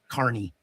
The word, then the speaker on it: Kearney: I have to go into the actual document, be able to edit it and change the name so it's Carney, which is how you pronounce Carney.